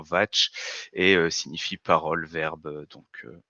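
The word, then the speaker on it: vāc: Ce mot est une écriture vient du sanskrit, se prononce théoriquement vatch et signifie parole, verbe, donc voilà, ça la petite aparté.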